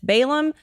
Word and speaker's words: Balaam: If you're wondering how to pronounce it, it's Balaam.